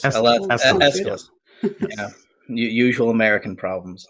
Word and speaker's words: Aeschylus: I'm going to probably say his name wrong, but the Greek playwright Aeschylus, is that how you say it? Aeschylus? There it is. Aeschylus.